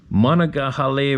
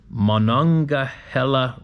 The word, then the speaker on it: Monongahela: remember you had a hard time pronouncing monagahale River no let me do that again mono Monongahela Monongahela River Monongahela River